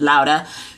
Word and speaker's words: Laura: You have Laura, who is pronounced Lauda.